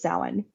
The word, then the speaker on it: Samhain: name for the holiday was Salon spelled Sam hay for all of us who mispronounced it for however many years